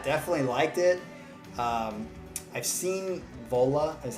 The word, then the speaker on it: Vola: I've seen Vola, is how you say it, Vola, pop up